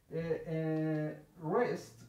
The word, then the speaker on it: wrist: Wrist, no pronunciamos la W.